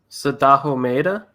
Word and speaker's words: Sadaho Maeda: Born, Eric, can you pronounce his name? Sadaho Mahida? Sadaho Maeda?